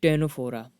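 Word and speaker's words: Ctenophora: वे लिया है नेक्स्ट अगला है टैनफ्लोरा यह विशेष स्टार्ट होता लेकिन सी साइलेंट है टर्नऑफ और प्रॉपर्टी के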